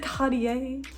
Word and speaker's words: Cartier: being cartier jewelry cartier i literally watched a french do on youtube explain me how to pronounce it like two minutes ago so he said cartier i'm gonna go with that if you don't know